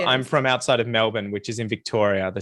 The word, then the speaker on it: Melbourne: say that Americans always say Melbourne We because of do. the spelling, We but do. it's a schwa sound on that second syllable. Melbourne.